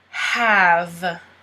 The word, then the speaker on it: have: Have. You don't pronounce the E. Have.